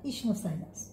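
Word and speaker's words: Ischnopsyllus: এদের উদাহরণ তো আমি লিখে দিয়েছি যে ইশনোসাইলাস, পীর উচ্চারণটা হবে না, ইশনোসাইলাস।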